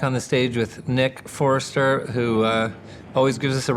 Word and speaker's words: Forster: You say Forrester like you spell his name wrong. It's Forster. Forster, like he's forcing us into that interview. No. S, not a C.